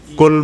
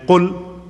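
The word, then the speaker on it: قل: And kul mean what? No, kul. Kul mean to eat. And qul, to say. Okay? Some of might not even differentiate between these two, kul and qul. But it's a huge difference of meaning.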